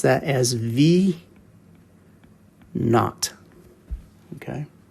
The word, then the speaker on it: v naught: real real quick here this variable looks like v sub zero which is actually correct you can say it that way but most people will pronounce that as v not okay it's a little bit easier to say